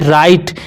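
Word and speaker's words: right: एस टी तो देखिए यहां पे जी एच जो है ना बच्चों ये साइलेंट वर्ड है तो यहां पे इसे कैसे पढ़ेंगे इसे टोटल का टोटल पढ़ेंगे राइट क्या पढ़ेंगे बच्चों राइट पढ़ेंगे और राइट का मतलब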